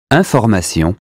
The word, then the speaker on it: information: That consonant tells us not to say in or im, but un. Here's how to say them correctly. Repeat them after me. Imbécile, inclination, information, injuste, important, instant, intact.